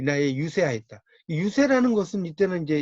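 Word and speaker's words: 遊說: 유세라는 것은 이때는 이제 이 유세라고 할 때 이 글자는 여러분 이제 알아두실 게, 요 글자는 설자가 아닙니다. 새로 읽어요. 유세. 이때는 이제 달랠새자로 읽어요.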